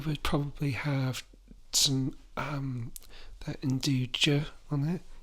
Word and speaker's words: nduja: I would probably have some that induja on it. Is that how you say it? Induja? Induja? Induja? Naduja. Yeah.